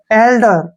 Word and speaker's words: elder: ELDER, ठीक है ना, यहाँ पे ई का उच्चारण जो है हम ए के रूप में करेंगे, और एल से हो गया ले, और डी से हो गया डे, और ER का उच्चारण रे होगा।